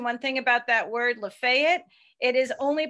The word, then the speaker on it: Lafayette: thing about that word Lafayette it is only pronounced in that way right here in La Fayette County Mississippi everywhere else it's Lafayette which is the French way to say it of course good mark